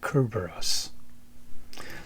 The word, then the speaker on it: Kerberos: I read and already put up a video about the heads of Cberus or Kerberos. It's how you say it.